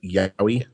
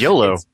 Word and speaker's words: yaoi: Noob, I believe that's pronounced yaoi. Oh, it's I thought it was YOLO.